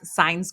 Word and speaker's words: Saenz: our social platforms um it's signs global and it's spelled s as in sam a is an apple e n z is in zebra and then the word global so signs global yeah